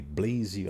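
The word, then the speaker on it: Blaise: na forma de Deus quem disse foi Blaze acho que assim se pronuncia por colocar na tela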